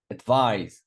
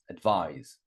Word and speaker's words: advise: Advise, second syllable. Advise. Agree.